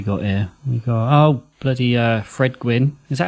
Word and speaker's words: Gwynne: We got bloody Fred Gwynne. Is that how you say his name? Gwynne, it is.